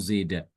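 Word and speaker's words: زاد: membaca dengan imalah juga boleh dengan membaca dengan fathah ya seperti biasa zada atau zaida itu di luar surah Al-Baqarah.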